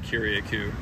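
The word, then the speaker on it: Curaçao: Aruba near Aruba yeah not to be confused with kiriako that's not me super ignorantly saying the word Curacao it's I think it's actually called kiriaku okay so it's spelled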